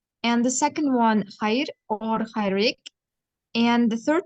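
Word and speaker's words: հայր: As for father, it's Haid, you pronounced it perfectly, or Haidik.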